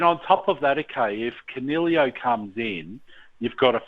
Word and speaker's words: Coniglio: Coniglio.